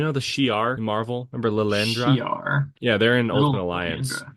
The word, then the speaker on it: Lilandra: has a triangle hat oh it's not L Andra I mean it's spelled the same but yes it's not they're an alien race